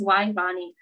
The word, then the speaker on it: Wyvonne: Oh, so my name is Wyvonne. Yes, pronounced Wyvonne.